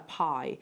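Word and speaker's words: bi: of a ritual object called a pie it's spelled b-i um and also Kong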